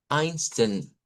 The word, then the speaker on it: Einstein: todos conocemos que fue el el físico Albert Einstein. Y note que se escribe con e i su apellido, pero se pronuncia con i.